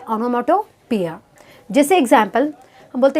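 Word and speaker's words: onomatopoeia: Next figure of speech है ऑनोमैटोपोइया। इसका pronunciation है ऑनोमैटोपोइया।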